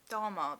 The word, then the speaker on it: Dahmer: I mean there is like a very famous crime writer who knew em Dahmer, that's how you say his name and now I can't remember the other famous of US Serial Killer.